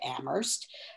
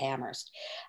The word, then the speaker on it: Amherst: came back home to amherst uh you notice i'm not using the h that's that's the way that locals pronounce it looks like it's it's